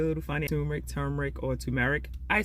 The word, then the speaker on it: turmeric: And everyone says I pronounce it a little funny. Turmeric, or turmeric.